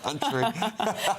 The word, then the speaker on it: Türkiye: names of things like Turkey is now Türkiye, isn't it? Well, it's not. Türkiye. Well, it is, Ellie. It is actually the old day you could pronounce it Turkey.